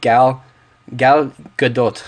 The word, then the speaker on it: Gal Gadot: I really hope Gal Gadot, that's how you say her name, can really be a great Wonder Woman and Princess Diana.